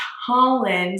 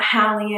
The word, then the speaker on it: Holland: my name is holland pronounced holland like the country not hallie and not halend not i don't even